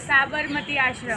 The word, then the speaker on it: साबरमती आश्रम: लेकिन वो आश्रम बाद में शिफ्ट हो गया, जो कौन सा वो प्रोनाउंसिएशन बताइए प्लीज़? साबरमती आश्रम.